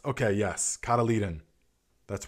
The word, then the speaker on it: cotyledon: Cotyledon. It's pronounced. Okay, yes. Cotyledon.